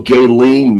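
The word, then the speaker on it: Ghislaine: So Gaelen Maxwell is how you pronounce her name.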